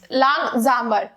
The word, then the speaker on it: langsamer: langsamer में जो ये s है उसको हम ज प्रोनाउंस करते हैं, मतलब ज की साउंड आती है, ठीक है। ज, langsamer।